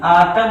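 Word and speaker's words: autumn: जाता है, जैसे AUTMN आटम होता है ना, आटम, तो इसको नहीं पढ़ा जाता, यानी यम के बाद यन का उच्चारण नहीं होता, आटम पढ़ते हैं।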